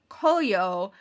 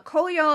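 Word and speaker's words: 紅葉: it is also called colio uh colio is another pronunciation of the kanji characters for momiji um this which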